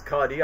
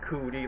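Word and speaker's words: Cudi: But back then when this artist was popular on saying, "Oh, it's Cuddy. I thought it was pronounced cooty." Like, "Ew, he's giving me the cooties."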